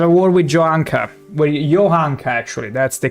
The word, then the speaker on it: Johanka: Well, Johanka, actually. That's the correct pronunciation.